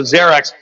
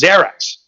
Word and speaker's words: Xerex: at the page going i know it's it's a z sound do me a favor xerix talk to me a